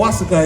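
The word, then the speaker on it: Oaxaca: There's even a restaurant called Wasaka. It's O X A C A. I believe that's how you spell it.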